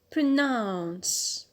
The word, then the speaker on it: pronounce: Next word or next verb, pronounce, pronounce. So as you hear, the stress is on the alt, on nouns.